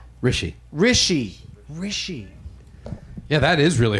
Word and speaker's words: Hrishi: is that right? No. How do you say it? Rishi.